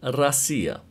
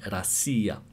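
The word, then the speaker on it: Россия: pronounced and the same when you write russia in russian the stress is not on the o so it's pronounced so it's written but it's pronounced rasia since the stress is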